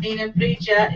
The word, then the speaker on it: Nigheanbrighde: Ninembrija is NIGHEANBRIGHDE. Yes. Just forget all the hard vowels. I mean, hard consonants whenever you say Celtic language. You just, if you've ever seen... Run it all together.